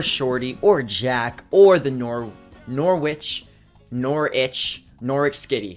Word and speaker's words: Norwich: Against the Donphanatic, or Shorty, or Jack, or the Norwich Skitty, because they kind of pointed out before that the W was not, in fact, pronounced.